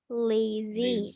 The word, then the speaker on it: lazy: ya seperti itu kemudian cara baca reason apa guys it's Reason esnya pakai jadi z So it's not yes yes not lazy it's lazy lazy pakai Z ya for